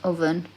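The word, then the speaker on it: Овен: of the two um the word's pronounced oven but it means Aries um the breath of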